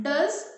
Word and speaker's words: does: Yes, you have not clapped only for the one word now, one pair of the word, does or toes, because they do not rhyme with each other.